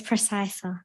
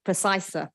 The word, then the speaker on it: Precisa: I'm not sure, is it Precisa? Is that how I pronounce it? It's Precisa. Precisa.